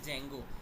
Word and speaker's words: Django: है जिसका नाम है Django। ये Django का वर्ड D से स्टार्ट होता है मगर D साइलेंट है, ओके।